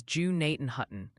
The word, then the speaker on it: Gnadenhutten: And Ryan, the Ohio Pronunciation Academy called, Gnadenhutten is Jew-Naten-Hutton, New Concord is New Concord, Muskingum is Muskingum.